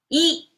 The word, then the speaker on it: 一: Yi is the pronunciation, and it means one.